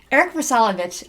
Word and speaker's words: Vrsalovich: Eric Vrsalovich, I said it right.